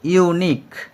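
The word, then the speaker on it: unique: তো প্রথমত যেহেতু এখানে ইউনিক, এর উচ্চারণ কিন্তু ইউনিক, অর্থাৎ এটা কিন্তু ইউর উচ্চারণ ইউই থেকে গেছে, আয়ের মতো উচ্চারিত হচ্ছে না।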